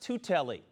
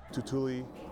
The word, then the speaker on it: Tuitele: Tuitele, someone called me Turtle for some reason. There's no R in there.